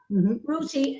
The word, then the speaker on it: Ruti: all that you know i have to be very clear this is not me not able to pronounce my th's but her name is spelled r-u-t-i rooty uh you were born